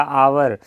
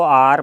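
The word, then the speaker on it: hour: आवर, इसको आर पढ़ते हैं वैसे तो आ से शुरू हुआ इसलिए एन आर हो गया।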